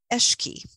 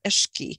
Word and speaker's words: Alki: she pronounced it was eshke and I'm probably not really doing just as that but ishki with a little bit of gurgle in the back of your mouth you know eshke and you know how